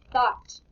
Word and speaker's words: thought: Alright, this word is thought. Thought. Ah. Those other letters are kind of silent in there, weren't they?